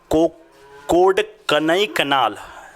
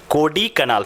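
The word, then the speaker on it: कोडाइकनाल: और कोडकनई कनाल, एक सेकेंड, कोडी कनाल, सॉरी हाँ स्टूडेंट, अब एग्जैक्ट इसका प्रोनाउंसिएशन है मेरे पास।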